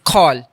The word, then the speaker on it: Khoal: देखें, the correct pronunciation is खौल।